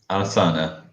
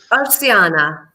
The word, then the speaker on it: Arsiana: And hello to Arsana. Arsania? Oh, bad pronunciation. Terry, help me. How would you pronounce this name? Arsiana.